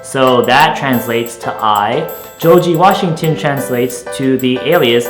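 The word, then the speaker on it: ジョージ: and in the Japanese Katakana version of that first name George it's pronounced Joi so let's go with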